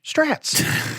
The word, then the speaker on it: Strat: Some people call them Strats. Strat rhymes with cat.